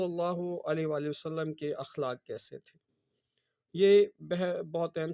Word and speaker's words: اخلاق: تھے۔ اب ہم نے اس کا تلفظ یہ ہے، اخلاق نہیں ہے، اخلاق ہے۔ اخلاق ہم نے پڑھا،